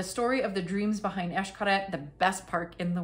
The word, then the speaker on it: Xcaret: genius man behind this Xcaret group. It's called Sueños. Xcaret is spelled with an X, as you know. It's Mayan, so everything is Esh. This essentially means dreams, like if it was sueños.